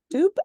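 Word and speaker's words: Dubh: The Apprentice of Amandine Dub. Dupe, I think. Dupe. It's an Irish word.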